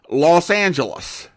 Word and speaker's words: Los Angeles: radio announcers and journalists they agreed to the angelized version Los Angeles there you go that's